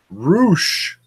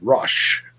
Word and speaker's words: Rush: Roosh. There, I finally pronounced it correctly. Hope that makes everyone happy. I've been pronouncing it for weeks as Rush. It's spelled Rush.